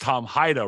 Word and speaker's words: Hajda: It's pronounced Tom Hajda, right, Tom? That's right.